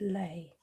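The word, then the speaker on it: lei: ton a tropical fruit pronounce it lay huh okay that's what i've learnt today hawaiian lay i don't think i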